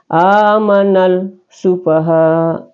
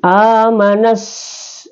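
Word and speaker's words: آمن السفهاء: jadi tapi sem amanfaha Jadi tidak boleh amanal sufaha atau amana asaha ya tapi amanas ya masuk di sini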